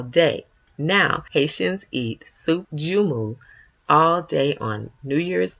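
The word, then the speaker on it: joumou: Haitian pumpkin soup called soup jumu pronounced jumu in Haitian Creole I assure you it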